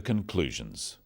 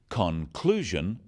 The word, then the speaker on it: conclusion: In words, one syllable is stressed. The wrong stress makes it hard to understand. So, conclusion, not conclusion. Products, not products.